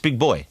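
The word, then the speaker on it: Big Boi: boy yeah big boy how do you pronounce that boy boy big just big boy yeah it's spelled boi yeah we it might be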